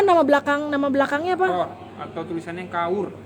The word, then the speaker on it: Kaur: belakang Nama belakangnya apa Kaur Kaur Kaur dibacanya chord kord ertinya apa konsep Princess